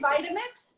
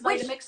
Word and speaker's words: Vitamix: I say Vitamix, but yeah, I think it's Vitamix in America. which makes sense because like vitamin, you know.